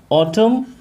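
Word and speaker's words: autumn: होती है ऑटम, during ऑटम। इसका जो प्रोनाउंसिएशन है फ्रेंड्स, ये ऑटम होता है, ऑटम। और इसमें एन जो है ये साइलेंट होता है।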